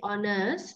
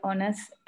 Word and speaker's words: Honours: BA Honours, that H is silent, Gayashini. BA Honours in psychology at University of Catalonia.